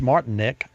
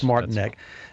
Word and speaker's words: Martinek: Center in Detroit and with us it's Martin Nick and uh that that's pronounced correct that was very good martinek uh I want to welcome you to OnStar